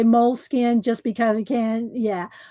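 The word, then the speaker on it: Moleskine: I looked it up one time years ago and at the Moleskin company, you know, and it they said Molas Skina.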